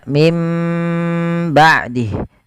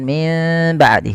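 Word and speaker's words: مِنْ بَعْدِهِ: bibir itu secara rapat maka mim ba'dih bukan Min ba'di tapi dia m Ya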